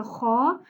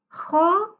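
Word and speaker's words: خ: Pour bien prononcer la lettre Kha, on ne dit pas Kha. Non, on dit Kha. Kha, comme ça.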